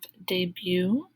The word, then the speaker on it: debut: lesson 10 we have debut the t is silent debut stubborn permission hauling